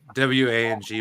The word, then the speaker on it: Wang: Garrett Wong. It's Wang, but it's pronounced Wong.